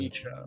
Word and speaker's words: Nietzsche: pronounce it, it's Me just too. Nietzsche.